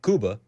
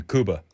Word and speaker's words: Cuba: To your other point, uh on Cuba, Kuba if you will, I believe that's how they pronounce it.